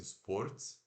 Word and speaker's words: sports: Então se escreve S-P-O-R-T-S, como se fosse sports, né? Mas se pronuncia S-P-O de óleo do português normal, R puxado, aquele R-T-S, sports, sports.